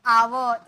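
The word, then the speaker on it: our: यू आर यानी कि आवर इसे हम बोलते हैं इसे हम बोलते हैं आवर आवर लास्ट वाला र ना आधा सिर्फ आवर आवर का मतलब होता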